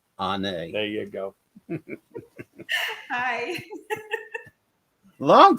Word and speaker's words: Onae: Onae. There you go. Hi. Long time no see. How you doing? You pronounced it beautifully.